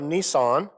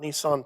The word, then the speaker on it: Nisan: or the month of nisan uh no that's not nissan truck but it is spelled just like that um abib uh